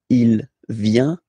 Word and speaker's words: il vient: viens, il, elle, vient, final T not pronounced, il vient, elle vient.